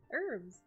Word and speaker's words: herbs: Herbs. The H is silent. I'm a Midwestern. That's my accent coming through.